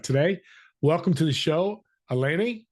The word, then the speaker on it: Alaina: Welcome to the show, Alaina. I didn't say it right. Alani. Say Alaina. it for me. Alaina.